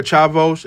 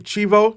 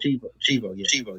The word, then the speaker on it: Chivo: All right, I want to hear Chavos. I'm saying it right, Chivo. Chivo, yeah.